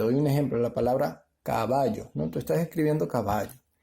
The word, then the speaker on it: caballo: en tu mente caballo entonces tú no dices caballo o caballo no tú dices caballo antes está en la penúltima sílaba sí está en la